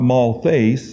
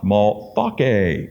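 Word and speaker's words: Malthace: we're going to talk about here it's not Mall face but it's pronounced maltake in the Greek this gal was a Samaritan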